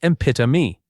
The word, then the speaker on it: epitome: This word is not said the way it looks at all. It sounds like epitome, not epitome like the word tome.